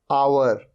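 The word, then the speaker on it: hour: ए रहा है ह ये है अवर यहां पर ह साइलेंट होता है अवर अवर मतलब घंटा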